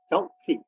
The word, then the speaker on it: Kyaukse: So, David, I'd be grateful if you could tell me a little bit about your early life in Kyaukse, if that's the right pronunciation. Kyaukse.